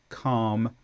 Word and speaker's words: calm: And last one, L before M. So calf, calm, salmon.